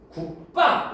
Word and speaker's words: 국밥: 우리가 표기할 때는 국밥이라고 표기하죠. 국밥 이렇게 표기하잖아. 근데 이거 소리 나는 대로 발음해봐. 발음 좀 해보세요. 편하게 발음해봐. 국밥 이렇게 해버리죠. 국밥 빠 이렇게 발음되잖아.